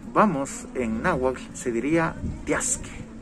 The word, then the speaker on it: tiaske: Entonces, cano tiasque es a dónde vamos. Hay una variación ahí, pues ya sabe, ¿no? Cada pueblo lo pronuncia un poquito a su manera y hay unos que dicen cano tiase.